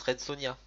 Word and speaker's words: Red Sonja: Enfin, il y a un J, mais ça se prononce Red Sonja.